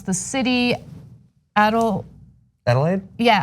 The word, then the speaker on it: Adelaide: Tamara says, today will be 42 degrees here in, I don't want to mispronounce the city, Adelaide? Yeah, Adelaide, Australia.